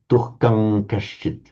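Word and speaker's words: दुःखं कश्चित्: You were misled by it being written as an M, albeit a subdotted M in Roman. Yeah. But it would be pronounced as on its own, of course, dukham with a m sound, but with the following k, dukham kashchit.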